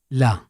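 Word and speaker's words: ل: it will be and its sound is LA la like the first sound in lemon we can find the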